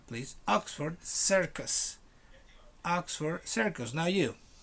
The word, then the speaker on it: Oxford: are no circles here oxford you um stress the word in the first celeb oxford not oxford please oxford circus oxford circus now